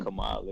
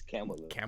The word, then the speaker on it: Kamala: Her name is Kamala. You said it right the second time. It's not Kamala. It's Kamala. Kamala.